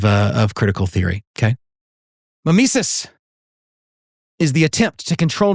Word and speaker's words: mimesis: Consciousness to reality okay uh some people say msus but it's usually pronounced Mimis um let me give you an example of